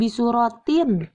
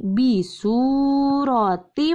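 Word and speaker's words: بِسُورَةٍ مِّن: Maka cara membacanya jangan bisurotin, tapi bisurotim, langsung masuk ke mim.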